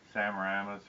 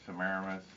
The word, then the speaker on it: Semiramis: Between him and his wife mother, Samaramis or Semiramis, some people pronounce it one way, some another.